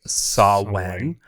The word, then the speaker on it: Samhain: and it's spelled Samhain, pronounced Samhain.